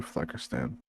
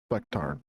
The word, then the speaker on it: Flecktarn: I'll do Fleckerstan. Or Flecktarn. Why did I say it wrong the first time?